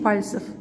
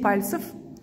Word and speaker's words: пальцев: Десять пальцев. Ударение падает на А.